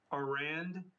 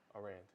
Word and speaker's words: Aurand: It's Aurand, Aurand. Arand. Keep it at that. Yes. Arand. All right. That's it. Perfect. That's the Southern pronunciation.